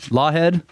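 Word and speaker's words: Laughead: uh charles was huh it looks like longhead yeah is it it's laughing at loghead lawhead is that how you say it okay charles was a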